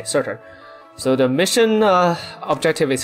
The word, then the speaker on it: Surtr: How do I pronounce her name? Surtr. Okay, Surtr.